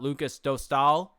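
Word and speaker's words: Lukas Dostál: Lucas Dostal, there you go, John.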